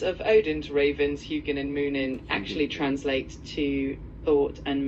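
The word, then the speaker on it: Muninn: That's why he said hoonin and moonin. Is that how you say it? Yeah, that's pretty close. It's pronounced hugan and moonin.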